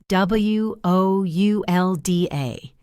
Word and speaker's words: woulda: Would wo u l d a. It's not a real word in writing, but it is a real sound in speaking.